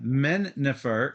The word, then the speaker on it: Mennefer: And trivia, Mennefer, in case you haven't heard of it before, it is the real way to pronounce the city, the Egyptian city, Memphis. Yeah. Mennefer.